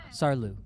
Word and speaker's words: Saarlouis: But without sleeping, we were off to a new city, Saarlouis, I think is how it's said, home of Liqui Moly.